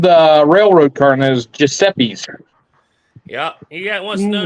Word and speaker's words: Giuseppe: Pronounce that, Snapper. Man, I still have to lean way forward. Gusby? Giuseppe.